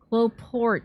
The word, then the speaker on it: cloporte: Cloport. It was right the first time. The E is silent because it's a French word.